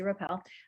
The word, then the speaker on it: Rappel: chelsea if you do not already know chelsea rappel am i pronouncing your last name correctly that was perfect